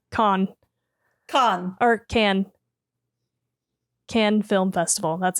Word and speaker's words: Cannes: I know that it's pronounced Cannes or Cannes Film Festival. That's it. That's all I know. Not cans. No, it's not pretty con. I'm pretty certain that the S is silent.